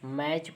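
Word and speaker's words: match: रहे है ठीक है मैच पढ़ रहे हैं एम ए और सीच को बोल रहे टी को भूल जा रहे टी क्योंकि साइलेंट है ठीक है देखिए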